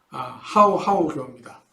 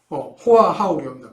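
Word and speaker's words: Hòa Hảo: 그 중에 유명한 것은 까오다이교와 하오하오교입니다. 호아하오교입니다. 발음이 좀 어렵네요.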